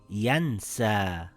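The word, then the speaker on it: ينسى: It will be pronounced as yansaa, it makes an aa sound.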